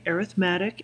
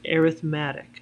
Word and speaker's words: arithmetic: we're going to identify arithmetic and geometric sequences I realized this word looks like arithmetic it's not when we're talking about sequences in series we pronounce it arithmatic so arithmetic versus geometric